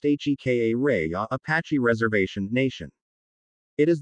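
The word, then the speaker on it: Jicarilla: which is the main town of the Jigarillo pronounced HKA Raya Apache Reservation Nation.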